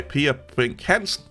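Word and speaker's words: Per Brinch Hansen: good old Danish boy, microkernels by Per Brink Hansen. That's how you say his name in Danish, by the way.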